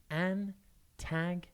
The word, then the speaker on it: antagonise: It's pronounced Antagonize, and it's spelt Antagonise. Antagonize. Think ant and then agonize.